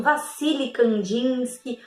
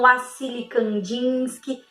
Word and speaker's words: Wassily Kandinsky: Algumas pessoas falam Vassily Kandinsky, outras falam Wassily Kandinsky. Não tem problema, tá? Porque a pronúncia em diferentes idiomas também é diferenciada, tá bom? Então não tem problema, não tem um certo e um errado, tá bom?